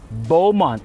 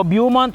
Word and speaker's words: Beaumont: At ngayon titingnan natin ang bagong baik B60 Bowont. Hindi po Buumont ha. Bowont po ang pronunciation niya.